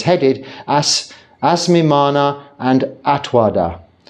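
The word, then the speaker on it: attavāda: It's headed Asmimana and Atwada. Atavada, it's spelt, so, which is correct spelling. Asmimana and Atavada, pronounced wada.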